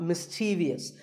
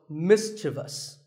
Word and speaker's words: mischievous: in the word mischievous this is not mischievous there is no I after the V the last syllable is just thus so mischievous and then there are